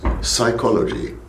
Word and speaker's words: psychology: second subject which was psychology okay I do not pronounce the P at the beginning right psychology M but what what